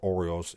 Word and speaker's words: Orioles: Dodgers, Giants, Braves, Phillies, Cardinals, Diamondbacks, Orioles, or Orioles if you're from Baltimore. You just got to learn to take letters and syllables out if you want to talk like you're from Baltimore. So, Orioles, Yankees, Astros, Twins,